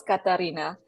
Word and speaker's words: Katarina: It is Katarina, but I think a lot of people mispronounce it, and I forget that that's my name.